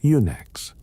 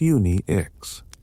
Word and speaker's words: Unix: Thompson's small system supported only a few users at a time, often just one. So it was Uni X. Unix.